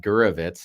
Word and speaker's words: Gurwicz: our friend, our new friend, Gurwicz. Is that our correct pronunciation? Do you know what? You pronounce it way better than most people I've ever met. So well done.